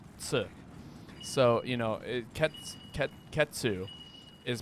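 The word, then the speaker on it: Khezu: a very Italian looking monster it would be pronounced ketsu not kazoo okay too that's how it works did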